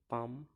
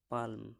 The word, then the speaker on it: palm: একই রকমভাবে পাম, PALM, পালম হতো, কিন্তু এখানে এম উচ্চারণ, এল উচ্চারণ হচ্ছে না, PAM, পাম, পাম মানে তাল গাছ।